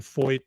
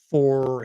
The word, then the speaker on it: Feucht: happening with with Shane Fo and I man I massacre his name. It's a gourman name. The f is silent supposedly.